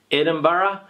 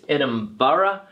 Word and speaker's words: Edinburgh: When we have this particular word here, the pronunciation is Edinburgh, okay, Edinburgh. It's not Edinburgh, all right, it's Edinburgh.